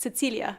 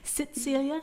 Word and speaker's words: Cecilia: In Slovene, it'd be pronounced Cecilia, but it's harder to get into a song. Cecilia, like that.